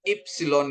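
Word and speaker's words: ύψιλον: Terus ada ipsilon, ipsilon, ipsilon, ya, ipsilon. Ini I, ya, Bapak Ibu, ya. Tapi kalau pengucapannya untuk ipsilon ini kita seperti mengucapkan O tapi keluar I.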